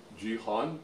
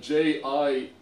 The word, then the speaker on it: Jian: Is it like Jihan? It's written like Jianh. No, something like that. Say Jian. Jian. Okay, without the H.